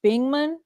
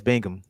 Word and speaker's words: Bingham: do see lamag mcdal Chase bingman is that how you say it oh Chase Bingham yeah he had more